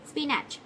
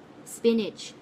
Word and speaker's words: spinach: โ อ้ ch ฉุ ฉุ เ ล ย spinach ไ ม่ ใ ช่ น ะ ค ะ